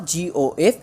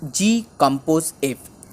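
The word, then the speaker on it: g∘f: इट्स नॉट GOF, इट्स G कंपोज F इज the pronunciation G कंपोज F.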